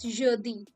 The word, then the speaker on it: jeudi: So Monday is pronounced as lundi. Monday is lundi. Thursday is jeudi.